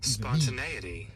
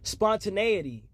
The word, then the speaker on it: spontaneity: Look at how it's pronounced and what it even means. And what? Spontaneity. Spontaneity.